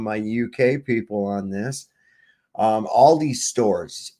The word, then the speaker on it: Aldi: Aldi stores, Aldi, that's how it's pronounced, Aldi, in London now require a scanned QR code for entry.